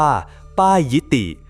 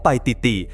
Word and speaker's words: ไปติติ: ธง คำ ไป ติด หรือ บาง ออก เสียง ว่า ป้าย ยิติ หรือ ปา อิติ เป็น ต้น ตำแหน่ง ที่ แน่ นอน ของ ไป ติติ ยัง คง เป็น ปริศนา